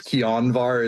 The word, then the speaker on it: Kianvar: It's Kianvar is how it's actually pronounced, but I'm not going to dock you anything for that.